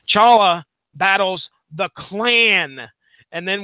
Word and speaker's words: T'Challa: T'Challa, which is how I'm going to pronounce it tonight, by the way, T silent. T'Challa battles the Klan.